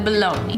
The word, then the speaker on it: bologna: completely covered by the bologna. Bologna rhymes with lonely. Kind of, not really.